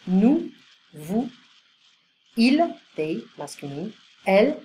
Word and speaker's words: nous: Nous, oui. Vous, you, formal. So I don't pronounce the S. Nous, vous.